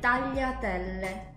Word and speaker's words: tagliatelle: And then this other sound is li. Ye. Like if you studied French, it's the same as double L, fille. Double L? Yeah. In French is this. Double L. Lieu, you can use it in the word. Okay, always related to food. Oh, it's like in Spanish. Spanish, los pollos. Yeah. Okay. The word tagliatelle. Tagliatelle.